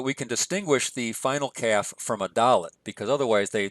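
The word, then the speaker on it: כ: doggish or not so a calf with a doggish is a K sound as in keep a calf without a doggish some grammars would say that it has a a KH or almost a CH sound kind of like cats so they would pronounce that with a huff sound other grammars just say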